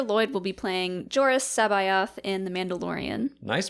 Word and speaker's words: C'baoth: you didn't even ask i really wanted to say cabalth i think that's how i used to say it like when i was first reading the book in fifth grade or so like kabout but uh that's what